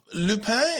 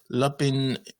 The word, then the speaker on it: Lupin: the show uh yes so lupe is the way that i will choose to pronounce this to stay faithful to uh the language but you may have heard it referred to as lapin or liu liupin or something but it is actually lupe yeah you know your